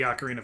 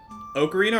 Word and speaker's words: ocarina: So, you pronounce it Ocarina or Ocarina? I usually say ocarina, but technically either pronunciation is correct. I usually pronounce it ocarina like the Macarena.